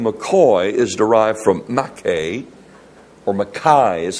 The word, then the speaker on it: MacKay: So, the Scots National Dictionary said this, the real MacKay, m a m m a c k a y, it's we would say McKay, but they would pronounce it MacKay, is a Scots phrase